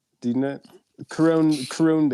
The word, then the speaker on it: Khruangbin: Khruangbin? Do you know? Khruangbin.